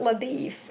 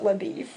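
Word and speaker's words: LaBoeuf: But in the movie they pronounced it LaBeef. And in the book they said they pronounced it LaBeef.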